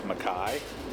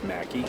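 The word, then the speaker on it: Mackay: the best part is she pronounces this maai even though it's macki Idaho I know because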